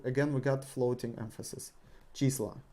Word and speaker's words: числа: Числа. Числа. We replace O with A, and again we got floating emphasis. Числа.